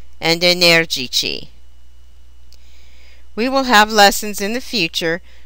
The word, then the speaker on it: energici: Their masculine plural endings have a soft C. Simpatici, antipatici, and energici.